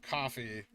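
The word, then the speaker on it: Ko-fi: link for that below uh for coffee or Kofi the creators say it's pronounced coffee but I don't think you can make up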